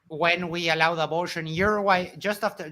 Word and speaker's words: Uruguay: No, it's a full G. Uruguay.